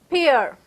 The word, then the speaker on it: Pierre: is pronounced as pure like how you do dear it's pronounced as peer moving on pierre says